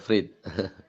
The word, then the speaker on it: Freed: Freed atau Fred bacanya tuh Honda Freit.